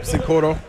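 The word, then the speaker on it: Cincoro: Is that how you pronounce it? Yep, Sincoro.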